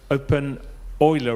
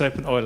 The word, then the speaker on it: openEuler: your name right but I pronounced the name open Euler wrong so I'm sorry it is open oil I have a problem